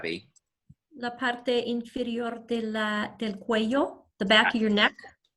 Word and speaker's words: cuello: La parte inferior del cuello, the back of your neck. So cuello is your neck, el cuello. Notice that a double L in Spanish is pronounced differently according to the region.